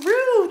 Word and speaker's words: Roo: to be very carefully very careful when I pronounce that uh ru Baby R yes Rue thank you Jody it's Rue kka kka was